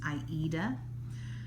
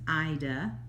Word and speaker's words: Aida: pronounces it which is aida um it it it is named after the play the opera aida um some people i think especially in the uk they pronounce it ida that's what i've heard